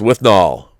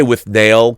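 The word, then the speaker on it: Withnail: a star-making role as with null I mean I say with nail cuz that's how it's spelled but they say with null guess it's nail but with nail and I it is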